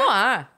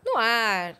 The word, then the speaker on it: Noir: Noir. Noir, exatamente. Noir que se escreve N-O-I-R.